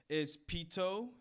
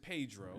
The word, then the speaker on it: Pedro: So it's Pito. It's Patro. I like Pito better. It's Petro. Oh, that's even better. It's Petro with a T in there. All right, that's your name for now on, Petro. Yeah. That's a great name. And then also let's go down how it's spelled. Okay, yeah. So I pronounce it Pedro.